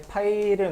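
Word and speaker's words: π: 자, 이렇게 쓰고 파이라고 읽어요. 파이.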